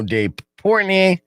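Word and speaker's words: Dave Portnoy: stool sports barstool sports you guys should know dave portney is how you say his name yeah yeah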